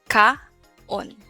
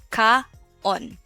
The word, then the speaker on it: kaon: So ka-on, not kaon, because again, we don't, in the Waray language, we don't combine vowel sounds. We read it separately, like very syllabic.